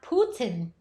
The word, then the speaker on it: Putin: Ram Kitty said, Putin is pronounced Putin.